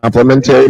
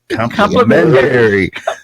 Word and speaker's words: complimentary: Complimentary mimosa. Complimentary. You really put the wrong emphasis on the wrong syllables.